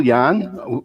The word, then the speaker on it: Jan: let's go to president um print workflow specialist of press wise by smart soft hi yeah it's yan you know like john rhymes with that kind of thing anyway so yeah we